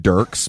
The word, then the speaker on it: Dierks: He pronounces it Dirks, but I'm not, I'm not going to do him that service. Okay, so his name is, he spells it Dierks, like Dirks with an IE, right?